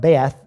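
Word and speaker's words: בית: The word, it's spelled Beth, but it's pronounced Bet.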